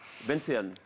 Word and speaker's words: Benseyan: D'accord, et puis Benseyan, je prononce bien ou pas? Oui, c'est ça. Benseyan.